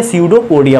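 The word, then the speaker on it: pseudopodia: इसमें P silent है, स्यूडोपोडिया पढ़ेंगे इसको, ठीक है।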